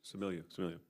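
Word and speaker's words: Stamilio: Anthony Similio, is that the correct pronunciation? Similio.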